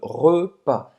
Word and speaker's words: repas: não vai pronunciar esse S também no final. Le repas.